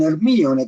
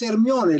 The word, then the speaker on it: Hermione: Algunos le dicen Hermione con acento en la I. Es Hermione la mujer, que es la hija,